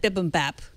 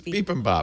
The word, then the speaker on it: bibimbap: mentioned on the last iOS Today podcast is bibimbap. Bibimbap. Looks good. I'll take 2. But I said bibimbap. You said bibimbap? It's bibimbap.